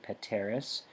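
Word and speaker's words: peteris: we pronounce these petor pateris that's a short e pateris petitor petimer patimini patontur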